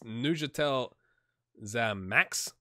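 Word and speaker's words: Neuchâtel Xamax: It's Neuchâtel Zamax, I think, is what she said. This is how this is pronounced.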